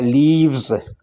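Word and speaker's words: leaves: लीफ की जम है लीव्स। लीव्स, F को V में हम चेंज करते हैं, लीव्स, लीव्स। और S यहाँ भी Z की आवाज़ देगा।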